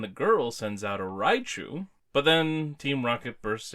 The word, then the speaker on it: Raichu: oh and I think raichu's name was like raichi yeah like it was just kind of like putting the e sound at the end of it whatever but yeah so